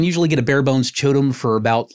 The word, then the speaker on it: QOTOM: or more industrial looking stuff, I really like Chotom. That's spelled QOTOM.